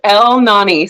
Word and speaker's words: Elnani: It's just El Nani. So it's like 2 words, but put together.